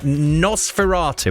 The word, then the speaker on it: Nosferatu: horror next I believe isn't it it's um Nosferatu is that pronounced right yeah yeah is ex exactly right